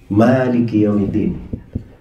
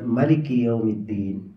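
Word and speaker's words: مالك يوم الدين: Kalau di bacaan kita mimnya apa? Panjang. Ya. Mimnya panjang. Maliki Yaumiddin. Tapi di bacaan sebagian ahli qiraah mimnya lamnya mimnya pendek. Jadi dibacanya Maliki Yaumiddin.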